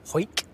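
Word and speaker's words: Hawick: It's pronounced Hoik. From Hoik, yeah.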